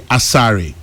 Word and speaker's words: Asare: Apparently, Asare is pronounced AS as AZ, and they pronounce the ARE as R.